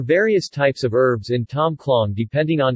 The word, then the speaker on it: Tom khlong: Tom clong Thai TM : pronounced Tom klo acute is a sour and